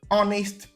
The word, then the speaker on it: honest: So, all of these the letter H in them are treated as silent. So we do not pronounce the letter H sound in these words.